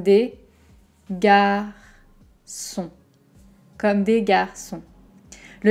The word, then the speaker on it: Comme des Garçons: garçons donc celle ci j'ai entendu beaucoup de prononciation différentes attention comme à un petit peu ouverts pas le haut très fermé de contrôle par exemple au come home comme des comme un sourire un peu crispé comme des gars sont comme